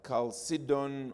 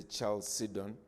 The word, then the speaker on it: Chalcedon: Then I think it was Yab, is that the way you pronounce it? Yab, who spoke about the Council of Chalcedon, or sometimes Zambians say Chalcedon.